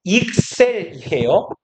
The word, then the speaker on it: excel: 얘는 발음은 익셀이에요. 발음 기호를 써봤자 의미가 없으니까 여러분들은 익셀이라고 발음하시면 되고 얘의 형용사형이 excellent예요.